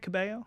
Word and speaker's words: Cabello: Ooh, is that how you say it, Cabello?